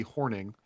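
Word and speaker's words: Hornung: Not Paul Horno. Anyways, I literally just Googled it. It's Paul Horning.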